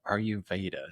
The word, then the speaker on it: Ayurveda: And then you were talking before we got on about Ayurveda. Is that, did I pronounce Yeah, it correctly?